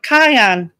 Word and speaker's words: Kanye: Kane West? That's not how it's pronounced.